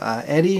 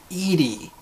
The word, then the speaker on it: Edie: This next one here is from Eddie McClurg. I'm not sure if I'm pronouncing the last name right. Edie, not Eddie.